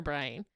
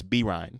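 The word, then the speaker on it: Byrne: I don't know if you say her name Bren or Brian. It's Brine.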